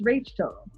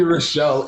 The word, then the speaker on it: Rachel: wrong I feel it how do people say your name ro what do they say Michelle it's Rachel they called me Rachelle it's clearly Rachel with that last one cuz my